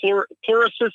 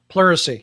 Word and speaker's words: pleurisy: policy and then when she gets sick from porter assist if i'm pronouncing it correctly mercy the poro membrane correct yeah pleurisy yeah yeah yeah and the thing is it's